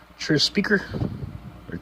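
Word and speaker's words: Tris: Tree Speaker. It's actually how you pronounce it, but whatever.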